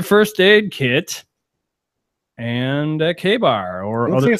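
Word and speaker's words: KA-BAR: Is it not pronounced? I mean, this is a It is K-bar, but I didn't know that it was spelled Kabar.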